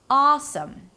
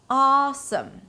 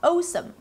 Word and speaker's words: awesome: Awesome, awesome, and not awesome, right?